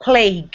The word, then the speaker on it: plague: surely and please not plague you exactly so we have plague which has like a silent u e at the end and a long a sound and then shirley which